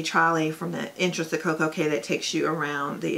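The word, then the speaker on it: CocoCay: used to be, but it is definitely Koko K. So if any of your friends or anybody's like, I don't know what it is, it's Koko K. Just remember, rhymes with perfect day, Koko K.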